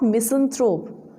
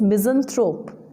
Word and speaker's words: misanthrope: the next word is misanthrope friends it's not misanthrope it's correct pronunciation is misanthrope it means a person who hates mankind logos